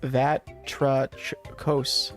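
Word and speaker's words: βάτραχος: The name of the island could be a reference to the Greek word for frog. That gives the word for frog. Pronounced Vatrachos. Vatrachos?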